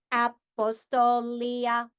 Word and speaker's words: Apostolia: But I have a second first name, and that is Apostolia. So let me break my name in syllables. Apostolia. So I have 5 syllables in my name.